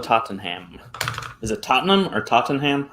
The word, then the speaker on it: Tottenham: Is it Tottenham or Tottenham? How do you pronounce that?